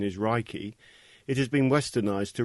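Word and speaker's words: 霊気: meaning universal life force although the proper Japanese pronunciation is raiki it has been westernized to Reiki Ray means Universal omnipresent present everywhere at the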